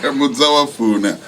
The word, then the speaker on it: Muzawafuna: Muzawafuna. Is that how you pronounce it? You could be better. Muzawafuna. That's how we say it.